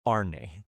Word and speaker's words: Arne: Undergirding the other tensions of the plot is Arne. How do you say his name in Danish? Arn. Arn.